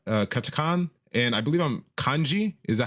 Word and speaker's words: kanji: systems right hiana katakan and I believe I'm kanji is that how you pronounce it Kani yeah yeah right kanji you know these characters are just logograms meaning